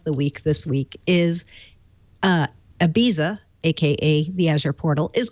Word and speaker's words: Ibiza: It's Ibiza. And although my Ibiza's son insists on pronouncing it Ibiza. Oh, is that right? Is that the right way? Yes. Okay. Ibiza.